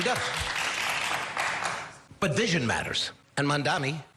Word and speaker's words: Mamdani: And Mamdani said it right? Mamdani, almost there.